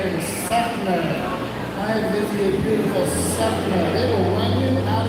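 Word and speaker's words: Seffner: It is spelled S-E-F-F-N-E-R. And it's pronounced Sefner.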